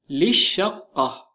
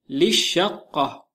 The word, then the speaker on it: للشقة: Say for the apartment للشقة للشقة Notice because the lam in الشقة is silent. Although للشقة has double lam, the second lam remains silent.